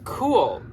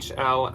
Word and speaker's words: Kule: Next up, we are moving on to a brand called Kule. And no, this is not Kuhl outdoorsy cool. This is a brand that is spelled Kule.